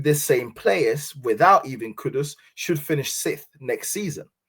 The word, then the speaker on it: Kudus: It's not Kudos, it's Kudus.